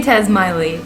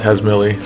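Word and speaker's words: Tazmily: So this came up before, and apparently my wife and I pronounce it differently. I say Tasmiley. I call it Tasmilly.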